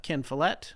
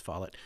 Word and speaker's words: Follett: I grew up on kin Follette I read I have needle I read write even though I only learnt recently learned how to pronounce his last name I thought it was followed and then and then